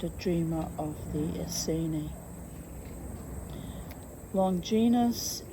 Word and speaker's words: Longinus: Longinus is pronounced, got that wrong, Longinus. Longinus. Well, I was comparing it to longitude and latitude.